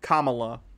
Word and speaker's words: Kamala: uh comma kamala okay i'm sorry like the pronunciation most people say are wrong kamala kamala kamala i'll try and remember that i'm